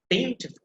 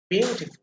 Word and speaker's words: beautiful: capitalization of the letters as you can see b e a and u i mean these b e a u that is capital x so that means that is the stress syllable so beautiful beautiful so you see the rest of the i mean syllables they are altered quite solidly but the first one that is emphasized be it okay can anyone pronounce